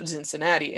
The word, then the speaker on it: Zinzinnati: So we have a Bachfest, we have a huge Oktoberfest, but we also have a Krampuslauf Zinzinnati, and Cincinnati being the German way to pronounce Cincinnati. So Zinnati.